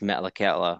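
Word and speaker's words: Metlakatla: grew up in a small town and it's pronounced Metallica which is kind of tough to to pronounce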